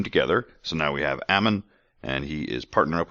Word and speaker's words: Ammon: that drink mhm that Aman oh I'm sorry I keep saying it wrong Ammon I will get that